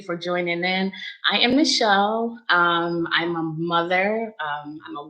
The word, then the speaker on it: Michelle: It's Michelle. That's the way my mother, when she named me, that was the pronunciation she had in mind with the spelling.